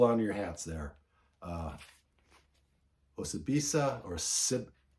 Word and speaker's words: Osibisa: Osibisa, or how do I say it? I say Osibisa. I think that's how you pronounce it.